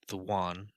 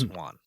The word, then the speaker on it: yuan: And just for you guys' edification, the yuan, Chinese money, is pronounced just like Huan, except without the whip. So it's yuan, not yuan.